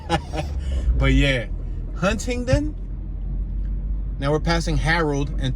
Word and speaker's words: Huntingdon: I had to pronounce it, and I say Huntington because I'm from Philly, where Huntington Park is Huntington Park. It ain't Hunting Park. But yeah, Huntingdon.